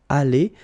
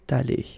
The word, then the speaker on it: allée: Okay, so elle serait allée, okay? But then phonetically it doesn't exist, all right? So it's aller here and then aller here, the way you pronounce it.